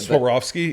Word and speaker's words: Swarovski: Swarovski.